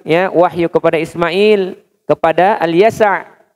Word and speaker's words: Al-Yasa: Kami juga berikan, ya, wahyu kepada Ismail, kepada Al-Yasa. Ya, apa Yasa biasanya kita mah Ilyasa cenanya. Yasa, Ilyas wal Yasa, ya, bukan Ilyasa. Ya, tapi Al-Yasa. Ilyas Al-Yasa, ya. Nabi Al-Yasa, bukan Ilyasa, tapi Al-Yasa.